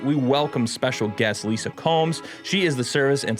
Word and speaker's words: Comes: thank you for coming i hope i pronounced your last name right yeah you did lisa combs they're right that's right nailed it it's been said